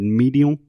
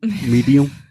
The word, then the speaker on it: medium: when Alexia was reading she said medial medium medium and this is a very common mistake for all Brazilians and Portuguese speakers not to close your